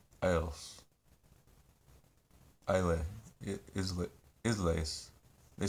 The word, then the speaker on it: Islay: Islay. Isleys. They spell it Isleys, but it means Isles. Islay.